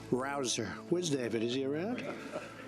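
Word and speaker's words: Rouzer: Petersen David Rosen hey you know how you pronounce it rabble rouser you go David rouser where's David is he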